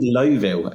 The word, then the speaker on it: Louisville: Yeah, so it's called Lowville, is how you pronounce it. I know. So I live in Louisville, Colorado, and I lived in Cincinnati years ago, and so I'm very familiar with the Lowville pronunciation. But in Colorado here, we pronounce it Louisville, so that sort of just rolls off my tongue.